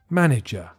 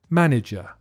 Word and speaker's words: manager: easier to pronounce but listen to the middle syllable because it sounds like a weak e manager manager number four this is